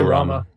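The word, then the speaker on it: Ramuh: Oh, Storms would be Ramu. Ramu or Rama? How you say his name? Rama? I say Rama.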